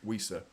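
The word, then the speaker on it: Wissa: pronouncing his name wrong I was told to whistle when I say Visa so weisa um and Ivan Tony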